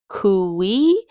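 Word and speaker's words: cuy: It's pronounced qui kooi.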